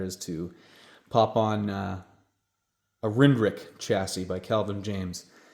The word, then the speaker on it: RNDRC: I know it's pronounced RNDRC, but my Canadian accent makes me fluff muddle that up a lot every time I try to say it. So in my world, it's called a Rindrick.